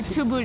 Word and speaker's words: Touboul: I say Touboul in Israel, Touboul.